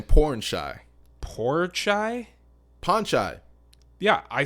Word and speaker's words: Pornchai: You say porn shy, like you're porn shy. Yeah, like maybe you're a porn actor who is shy.